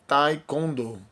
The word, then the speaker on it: Taekwondo: Cuja pronúncia em português é Taekwondo.